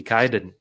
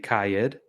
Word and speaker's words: Kyed: I mean, the way I mispronounced it when I first saw it would probably be Kyed, which isn't the worst. Yeah, right. But then I think you put in your Twitter profile rhymes with died, and I said, there it is.